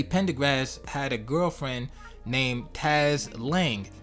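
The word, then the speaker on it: Taaz: So 1976, Teddy Pendergrass had a girlfriend named Taz Lang. Now it's spelled T-A-A-Z, so I hope I'm pronouncing it correctly, Taz or Taz Lang.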